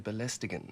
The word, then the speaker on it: belästigen: Belästigen, to bother or pester, and other words ending in gen in German sound more like a nasally hummed n, like But he actually pronounces it as belästigen. This sounds like a foreigner learning from a textbook.